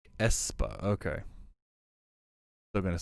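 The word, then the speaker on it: aespa: __ ] up espa it's pronounced espa okay still gonna say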